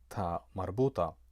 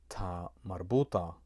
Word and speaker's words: ta marbuta: It is always pronounced a, regardless whether it comes at the end of a noun or if it comes at the end of an adjective.